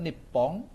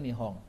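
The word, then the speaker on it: 日本: Nah, Jepang dulu disebutnya nipong ya. Zaman perang dunia kedua itu masih ada istilah nipon tentara daon gitu kan kalau belajar sejarah tahun 45. Nah, sekarang nyebutnya Nihong.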